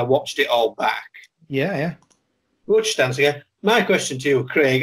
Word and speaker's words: Murun Buchstansangur: I've had just a little look back at Murun Buchstansangur, which is how it's correctly pronounced. I was saying Buchstansangur and was immediately corrected when I watched it all back. Yeah. Buchstansangur.